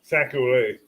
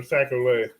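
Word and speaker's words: sac-à-lait: I just say it the way Creole said it. Sacole. That way I can't be wrong. I take the word from Creole, Sacole.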